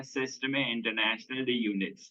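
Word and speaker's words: Système International d'Unités: एसआई एक French name है जिसका ओरिजिनल प्रोनाउंसिएशन होता है सिस्टम इंटरनेशनल दी यूनिट्स, राइट?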